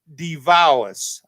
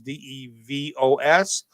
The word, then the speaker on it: DeVos: President Trump's appointed Betsy DeVos, I believe that's how you say her name is, DeVos, one of America's leading advocates for greater school choice.